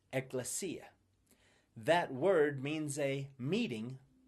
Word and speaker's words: ekklesia: see that it comes from a Greek word pronounced ekklesia.